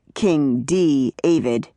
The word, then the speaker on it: King D. Avid: David Pearson said, pronouncing it king D. Avid, that's a small D. Period. Capital A, small V I D.